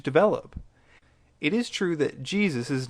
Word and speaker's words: Jesus: pronounceable for germans and we english speakers saw their spelling and pronounce it the way we pronounce jays which we pretty much